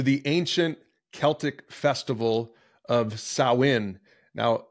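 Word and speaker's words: Samhain: ancient Celtic Festival of sain now it's pronounced that way but it doesn't read like that it's you spell it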